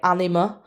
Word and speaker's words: Anyma: So one that I personally use for this, which you could try by all means, is some music by Anima, and it's spelt Anyma, and it's very trippy, and it really does the trick for this method.